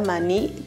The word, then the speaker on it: maní: De estas dos sílabas, ¿cuál la pronunciamos con mayor fuerza? ¿La última o la penúltima? Muy bien, la pronunciamos la última.